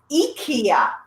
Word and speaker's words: IKEA: How do you pronounce where this came from? Is it not IKEA? Is it IKEA? It's IKEA.